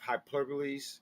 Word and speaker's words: hyperbole: I love wrestling, but they have hyperboles.